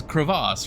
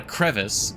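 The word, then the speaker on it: crevasse: Like it's it's a the correct way to pronounce it is is creass, right? Like that's It's not a crevice. Crevice is spelled differently. It's a creass. It's French.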